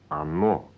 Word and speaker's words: оно: So it is оно, when the noun referred to is neuter. Yes, or no, pronounced оно.